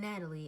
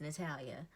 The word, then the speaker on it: Natalia: My name is Natalia. Natalia. My mom named my first name Natalia, which is Natalia. Not an E at the end. It isn't Natalie, it's Natalia.